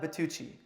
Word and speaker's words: Bytyqi: excuse me as well how do you say your last name but teaching bit touchy okay so Bertucci actually almost sounds Italian yeah I get that